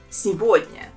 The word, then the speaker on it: сегодня: Сегодня. There are also 3 syllables in this word, and the second one is stressed. And here the main thing is that the letter G, we pronounce it as V.